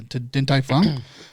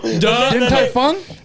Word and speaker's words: Din Tai Fung: So she said she had some restaurant plans that we went to Din Tai Fung, which is one more time.